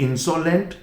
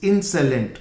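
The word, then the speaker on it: insolent: pronunciation भी ध्यान दीजिए इट्स नॉट insolvelent इट्स इन साइलेंट और यह भी एडजेक्टिव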